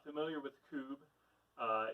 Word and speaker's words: kubb: those of you who are not familiar with kube uh it's spelled kubb and it is sort of a